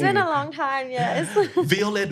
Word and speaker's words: Violette: It is, but because the way it's written in French. So it's basically, it's supposed to be violet.